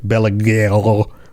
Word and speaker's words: Belegaer: Now, I looked up the pronunciation of Belegaer, and it it's actually something more like Belegael or something like I can't I can't even make those sounds with my mouth.